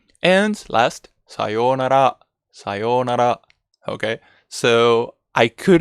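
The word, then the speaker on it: さようなら: here we may we need to make it longer okay it's not sayonara sayonara or sayonara it's sayonara make it longer okay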